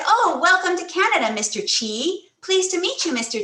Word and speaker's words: Kyi: So you have to make your mouth wide like you're saying cheese, but you say G and it comes out chi.